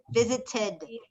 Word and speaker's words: visited: It would be visited. So id. how did I pronounce that ed ending? Visited. The ed verb ending sounds like id, visited.